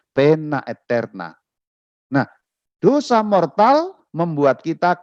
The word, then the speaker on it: poena aeterna: Pena eterna, poena itu dibacanya pena, ya, itu bahasa Latin. O dan E itu satu huruf, itu seperti huruf E. Jadi pena, A dan E juga seperti huruf E. Jadi itu bukan poena aeterna, dibacanya bukan begitu, tapi dibacanya pena eterna.